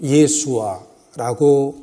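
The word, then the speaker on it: ישוע: 예수라는 말을 영어로는 지저스라고 발음하지만 히브리식 발음으로는 예수와라고 발음하게 되는데 그 단어 자체가 구원이라는 단어입니다.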